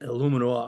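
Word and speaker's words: Eluemunor: Obviously, Jermaine Illuminor, I hope I'm saying that right.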